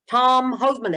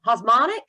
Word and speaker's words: Hosmanek: I was talking with I think it actually is John's colleague, Tom Hosmanek. Osmonic, Yes. yep. Yeah, Hosmonic. Mhm. Okay. Well, I've been pronouncing it wrong for quite some time now then.